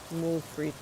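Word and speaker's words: moules frites: More fre. That's uh when you have muscles with French fries. That's how they say it in French. Mul fre.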